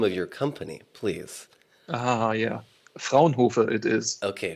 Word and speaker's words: Fraunhofer: And then, of course, also pronouncing the name of your company, please. Yeah. Fraunhofer it is. Okay, Fraunhofer.